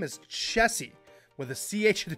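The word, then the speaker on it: Chessy: Now, if you had said Jessie, J-E-S-S-Y, or however way you want to spell it, technically it's incorrect. But I think it was a huge revelation during COVID when everyone's like, oh, it's Chessie, C-H-E-S-S-Y. Little different, but that is technically her name is Chessie with a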